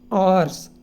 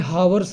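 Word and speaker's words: hours: But instead he slept for 2 आवर्स, इसको आवर्स बोलते हैं, हावर्स नहीं बोलते, ठीक है, इसको आवर्स बोलते हैं, एच साइलेंट होता है।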